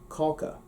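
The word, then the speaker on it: cáca: that is caca now had i written it properly see a fada ca that would become caulka which is the irish word for cake well lo and behold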